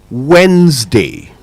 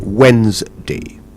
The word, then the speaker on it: Wednesday: Monday, Tuesday, Wednesday is the one I'd like us to uh uh focus on today. Wednesday, not Wednesday and not wedness day.